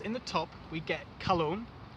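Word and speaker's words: Calone: Now the first note I'm going to mention is called cologne and it's spelled C A L O N E.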